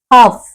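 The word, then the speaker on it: half: knowledge अर्थ आहे ज्ञान हाफ हाफ हाफ म्हणजे अर्ध आता हाफ म्हणताना सुद्धा एच ए एल एफ मध्ये एल हाफ अस लचा उच्चार होतच नाही आपण नुसत हाफ इथे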